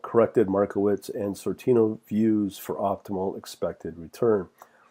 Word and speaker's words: Sortino: t z v-- school and you're looking for Sortino you can spell that by sor TI o TI + o